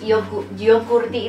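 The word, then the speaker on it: jogurtti: Mango itu kayak mangga, terus yogurti itu tulisannya J gini tapi bacanya Y.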